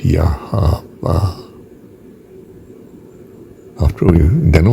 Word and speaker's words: Yahweh: In fact, I think the pronunciation should be, and I don't think anyone else thinks this, but it's Yahweh.